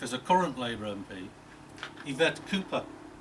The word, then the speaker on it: Yvette: a current labour mp yvette cooper she pronounces the name ivette which i think answers